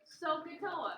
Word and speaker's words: SOHCAHTOA: The acronym is pronounced SOHCAHTOA.